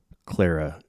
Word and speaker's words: Clara Cluck: going like is this is it pronounced claraa claraa cluck that can't be right never mind it's Clara you disagree that's you're